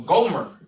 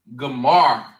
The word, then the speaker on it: Gomer: And they are called Gomar or Gomer in the Bible, right? Gomer. All right. And they are pronounced Gamar in the Hebrew.